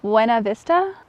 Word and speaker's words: Buena Vista: I'm currently in, I'm gonna say this wrong because it's not the correct pronunciation of the word, but it's the correct way to say the name of the town. Buena Vista, Colorado.